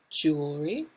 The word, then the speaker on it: jewelry: bracelet necklaces and rings jewelry careful with the pronunciation here jew your lips are going to come out jewelry oh that's a tough one the l and the r together jewelry you'll do better if